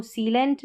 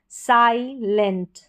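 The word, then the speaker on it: silent: इसको सीलेंट नहीं पढ़ेंगे। आई को यहां पर आई पढ़ेंगे। साइलेंट साइलेंट।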